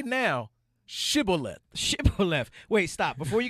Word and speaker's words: Shibboleth: And he said Shibboleth. And he said Sibboleth. He didn't say the H.